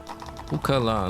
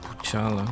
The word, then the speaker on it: Pukala: Pukala, not Puchala. I don't know why. You know, actually I know why I pronounce it Puchala like that. It's a Pukala.